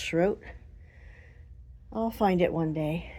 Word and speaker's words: Shroth: The name Schro on it. S H R O T H. It looks like Shroth, but it's pronounced Schro.